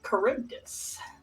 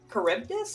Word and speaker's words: Charybdis: Charybdis? I believe that's how you pronounce the proper Greek.